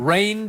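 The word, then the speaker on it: Reign: Rain Dakota Prescott. And it's spelled R-E-I-G-N. Rain.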